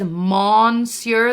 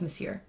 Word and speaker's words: Monsieur: know that like but for some reason I always see it as monster the way they and so I always say it wrong but I know it's Monsieur alright so what we're